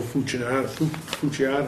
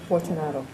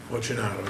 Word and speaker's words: Fortunato: book sale place is, Joe Fucciato, how do you pronounce that? Okay, Joe Fortunato. Fortunato, yes.